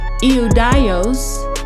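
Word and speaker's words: Ἰουδαῖος: And in the Greek that's pronounced idios and it means Jew of Judea Jews.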